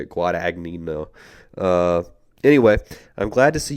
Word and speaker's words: Guadagnino: I'll attempt it. Luca Guadagnino. I think that's actually is how you say it. Guadagnino.